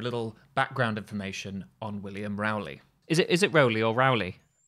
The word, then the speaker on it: Rowley: But let's say Rowley, because that's how I've heard it pronounced.